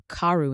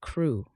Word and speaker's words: Crew: Madame Pascal pronounced it as if it were Carew instead of Crew, but that might be merely a matter of pronunciation.